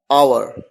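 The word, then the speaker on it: hour: और ऐसा भी कहा जाता है कि एच एक साइलेंट है, इसी वजह से भी आवर की ध्वनि आती है, आवर।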